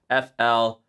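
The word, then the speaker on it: Fleadh: So it's actually spelled F L E A D H. making you say fl. The d is silent.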